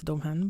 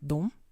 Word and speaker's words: Domhain: four of domhain yeah I was pronouncing this one wrong too I always said it was dom han but the four of domhain it's like a four